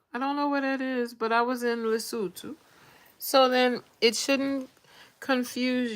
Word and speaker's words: Lesotho: And you have to say it like that, Lesotho.